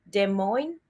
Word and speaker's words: Des Moines: So he filed a lawsuit against Des Moines, right? That's how you pronounce it, Register, and its former pollster Ann